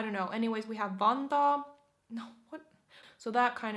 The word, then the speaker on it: Vantaa: So we have Helsinki, Espoo, Tampere, Vantaa. Vantaa. Again with the double A in the back or at the end. Vantaa. Vantaa. Not Vanta. Vantaa rather.